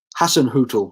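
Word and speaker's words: Hasenhüttl: all about ralph hassan talked has had you pronounced his name hassan hootool that's it i tell you what he could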